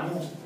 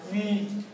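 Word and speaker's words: μ: el muido de la baca no es la mu es la mi mi era griego no español por eso la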